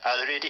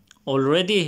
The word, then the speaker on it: allerede: Lutesia, at visse individer har funnet deres helvede allerede i dette liv, læste min... Already? It's not already, it's allerede.